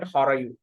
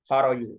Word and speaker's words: Harayu: So the Sarayu, when these Anavas or the Avestan speakers pronounce Sarayu, they will call it Harayu. Harayu.